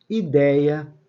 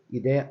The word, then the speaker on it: ideia: Ó, dei é que é a sílaba forte. Blei é que é a sílaba forte. É a penúltima sílaba.